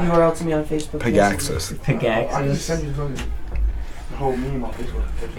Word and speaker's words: Pogacsas: Pogacsas.